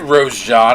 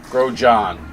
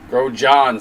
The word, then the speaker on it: Grosjean: I said Rose John. I know. I thought the G was silent. Grow John. Is it? Yeah, he's saying the S is silent.